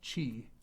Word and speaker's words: chi: of Jesus Christ's name in Greek it's actually pronounced Chi or CH and what chi chi yeah is